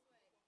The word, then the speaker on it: Kyra: That's what I get Kira all the time. It's Kyra.